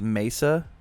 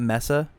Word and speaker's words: Mesa: It doesn't matter, but it's pronounced Mesa, not Messa.